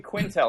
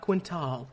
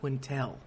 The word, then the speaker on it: Quintal: all right Ryan Quintel am I pronouncing your name right that's correct yes that's correct very good at this mind I'm very good at this podcast you weren't baited by the a not quintal Quintel got it well thank